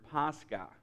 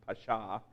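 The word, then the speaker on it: Pascha: accurate translation of the Greek word word pasca or I I it may even be pronounced Pasha uh I think pasca is the correct pronunciation in Acts 12:4 in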